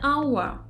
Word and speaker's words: hour: an old friend, an hour. Here the consonant H is written but not pronounced.